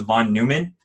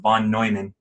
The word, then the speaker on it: von Neumann: Now, for a long time, I thought this was von Neumann, and I think it's just because I read it all the time and I never heard it out loud. But I recently learned from Sean that it's pronounced von Neumann.